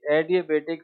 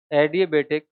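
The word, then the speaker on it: adiabatic: एडिया बेटिक flame temperature एडि but spelling आती है ए डी आई ए B eighty एडि बेटिक फ्लेम टेंपरेचर दोबारा बोल एडि बेटिक फ्लेम टेंपरेचर फ्लेम फ्लेम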